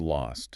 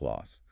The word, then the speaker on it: lost: Start with lost. Lost. You really need to articulate that T at the end so it doesn't sound like loss. Loss.